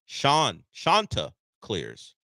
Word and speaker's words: Chanticleers: Shanta Clears. Like Shasta. Shanta Clears.